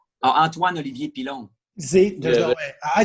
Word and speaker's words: Antoine Olivier Pilon: Antoine Olivier Pilon.